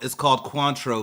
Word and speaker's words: Cointreau: I'm not gonna pretend like I know how to pronounce that because obviously I don't. It's called Cointreau, Mr. Grammar Police. Okay, Cointreau.